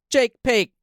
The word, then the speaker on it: Jake Paque: we can just have a moment of silence, and I can say, Jake Paque. Oh, how do you say that? You Paque? just did it right.